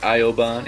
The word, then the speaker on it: Ioban: And finally, at number 1, I have About You by Ioban and Vin. Don't worry, that's how you pronounce it. I did my research on his Reddit AMA.